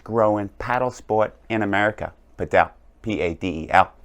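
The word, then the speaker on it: padel: paddle sport in America Patel p-a-d-e-l I think I pronounced that right if I didn't maybe I should have just said per day because it rhymes with don't forget to have a good day and let's get started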